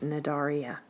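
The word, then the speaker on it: Cnidaria: at is the phylum nedaria the sea is silent on there it starts with a c but it's pronounced nadaria what is that you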